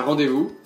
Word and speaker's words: rendez-vous: Un rendez-vous. C'est le même, mais ça se prononce rendez-vous.